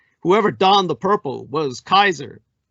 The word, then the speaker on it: Caesar: donned the purple was kaiser tsar khazar the original pronunciation of caesar in the latin whoever donned the purple